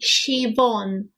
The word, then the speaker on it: Siobhan: Or is it pronounced as a V? Siobhan. With V, Siobhan.